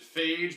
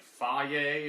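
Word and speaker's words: Fage: Alright, so this is, I always pronounced it phage, but I think it's actually like faye, or not phage.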